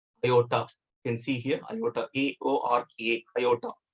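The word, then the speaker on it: aorta: you can see here iota iota the r is silent here they used to call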